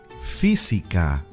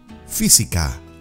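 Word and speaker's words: física: even with this word physica physics fee c car repete physica muy bien we almost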